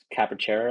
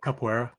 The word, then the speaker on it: capoeira: right, with that like that dancing style, like capoeira or something. How do you say it? Do you know how to say it? Capoeira, Capoeira, yeah.